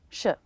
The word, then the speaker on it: should: One of the things I notice is I'm dropping the D sound. Should we? Sh. Just the SH sound and the schwa.